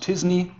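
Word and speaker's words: t-SNE: content here probably this method which is pronounced disney i would guess is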